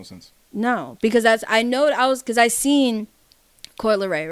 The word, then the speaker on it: Coi Leray: No, because I seen Coi Leray, right?